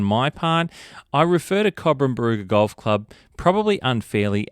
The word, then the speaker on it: Cobram: Um and I just wanted to mention that because I just shorten it to corbum. Aussie thing to do, right? We shorten everything to the first word or the first syllable.